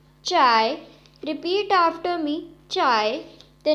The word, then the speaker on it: zhai: So the next Pinyin is ZHAI, has a pronunciation of chai, chai. Repeat after me, chai. The next Pinyin is ZHEI, has a pronunciation of chai, chai. Repeat after me, chai.